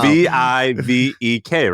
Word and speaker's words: Vivek: There's 2 ways to say his name. And one is the right one is the wrong one. And you just came with a third, Vivek. Holy! It's wow. Vivek, right? Vivek is the way you say it.